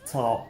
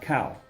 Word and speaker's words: cao: Again, this is xiao, not xiao, and this is qi, not kai, and this is cao, not cow.